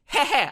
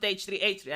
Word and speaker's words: h3h3: The name, H3H3, it's hehe. I never pronounced it H3H3. I pronounced it hehe because he wanted to make you laugh.